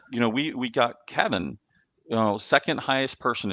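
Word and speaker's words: Cevin: you're going to see the letter c e v i n pronounced kevin you know kevin was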